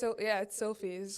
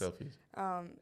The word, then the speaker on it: Silfies: And like, do you say like, how do you pronounce it to people? Did I say it correctly? It's Silfies. Silfies.